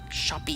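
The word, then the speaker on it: Shoppe: The sign says pawn shop Shoppy. with a P and an E. I believe it's pronounced shoppy, because this is America. This is America.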